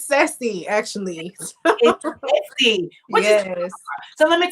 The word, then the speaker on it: Ceci: just corrected me i heard that it's not pronounced cc pronouncing for the audience for us it's sexy actually yes so let me tell you a